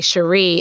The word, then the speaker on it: Cherie: I'm sorry Cherie Alexander it's spelled shari sha RI so I would say Shari but it's really Sheree Alexander now if you're not